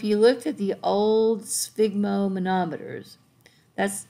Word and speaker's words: sphygmomanometer: look at the old sphygmomanometers that's that's a fun word to say svig it's like you're trying to say fig but you put us on a sphygmomanometer that's the blood pressure